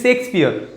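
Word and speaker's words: Shakespeare: तो देखिए यहाँ पर शेक्सपियर सेज, शेक्सपियर प्रोनाउंस सही करना है इसको, शेक्सपियर करते रहते हैं, शेक्सपियर। ठीक है, क्योंकि देखो साउंड किसी आ रही है यहाँ पर SHAKE, ई से क्या हो जाएगा? शेक्सपियर।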